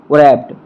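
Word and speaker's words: wrapped: children was a things रैप्ड rapt यहां प रहेगा डब्लू नहीं डब्लू साइलेंट रहेगा तो देखिए द मीनिंग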